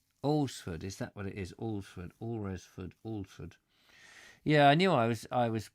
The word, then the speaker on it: Alresford: Alresford, is that what it is? Alresford. Yeah, I knew I was pronouncing it wrong.